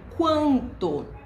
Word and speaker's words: quanto: a letra U E quando eu junto a letra q u mais a vogal lá eu posso formar uma palavrinhas como por exemplo quanto E aí eu vou pronunciar a letra U então eu falo quando